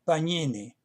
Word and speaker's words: Pagnini: la O, Santes Pagnini, que se pronunciaría Pagnini, Santes Pagnini, como la base para su traducción de la Biblia al español.